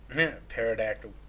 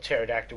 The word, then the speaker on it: pterodactyl: give me an f because i spelled pterodactyl with a t i don't make it